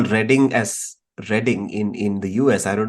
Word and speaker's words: Reading: They call Reading as Reading in the US. I don't know how it's pronounced in the UK, by the way. Is it Reading? It's called Reading, not Reading.